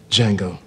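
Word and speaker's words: Django: mind what's your name Jango can you spell it d j a n g o the D is silent I know Jango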